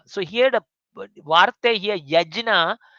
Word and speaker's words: yajna: So here the vartha here yajna, it is actually we pronounce as yagyang.